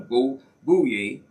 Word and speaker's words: Bouye: Now, for State Representative District 48, Bouye, that's how they pronounce it, these names out in South Louisiana, Bouye, he's running as a Republican, okay?